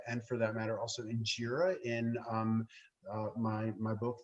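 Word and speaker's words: injera: mentioned something that sounded like enjira can you spell that that's the name of the italian dosa no no um injira is ethiopian so that's uh ethiopian sponge bread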